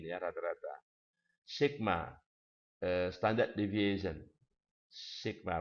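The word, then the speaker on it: σ: Sigma bacanya.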